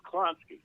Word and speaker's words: Klonsky: How do you say it? It's Klonsky. Klonsky.